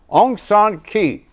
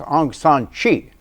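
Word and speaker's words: Aung San Suu Kyi: 2012 myanmar's democracy activist Onan K actually pronounced Anan Chi already a famous already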